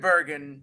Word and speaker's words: Burgin: last name Bergen that's Bergen hard G that's me boom RG